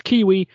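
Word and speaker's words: Keywe: PC or Playstation PS5 yeah yeah but it's kiwi spelled k-e-y-w-e I don't actually know why it's spelled that way this is the thing in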